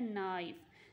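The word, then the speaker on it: knife: ठीक है, इधर से हम लोग जो है प्रोनाउंस करना स्टार्ट करें नाइफ, तो इधर जो के है वो साइलेंट लेटर है।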